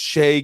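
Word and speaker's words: Shai: is it actually though i think it's shay gildrus but people say shout out but they're mispronouncing yeah okay that's that's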